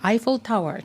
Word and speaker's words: Eiffel Tower: で発音するときは Eiffel Tower というふうにね発音するんですね。